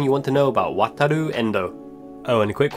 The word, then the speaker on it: Wataru: Some of the fan channels still say Wataru. Wataru. Wataru Endo. Wataru. Rooney. The do is a weird combination between Lu and Ru.